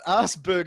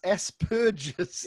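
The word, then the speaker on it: Asperger's: people damn you Americans it's not assberg is it's as purges there's no B in that word God damn it I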